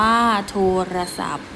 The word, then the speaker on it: โทรศัพท์: คำ ศัพท์ นะ คะ คำ ที่ 12 โทรศัพท์ อ่าน ว่า โทรศัพท์ คำ ศัพท์ กับ ศัพท์ โทรศัพท์ เหมือน กัน เลย นะ คะ เด็ก ๆ เหมือน กัน เลย สะกด ด้วย พอ พาน นะ คะ คำ ที่